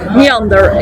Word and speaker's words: Neànder: we dive in into you and the band Meander is this how your name is pronounced yeah yeah it's correct just a German